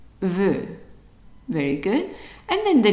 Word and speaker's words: veut: And the EU is actually pronounced just like an E, but a little bit longer. So instead of E, it's E. E. Now, how would you pronounce the whole thing? Veut.